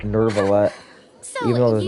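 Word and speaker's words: Neuvillette: No, apparently it's not even pronounced Nouvelette. No, it's like Nervalette.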